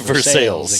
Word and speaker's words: Versailles: Not to be confused with Versailles in France. Yes, They pronounce it Versailles in Kentucky. It is Versailles.